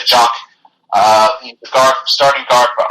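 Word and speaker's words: Jok: One player, though, that you really got to look out here is Peter Jock, or Jock. It's spelled J-O-K. I'm going to say Jock.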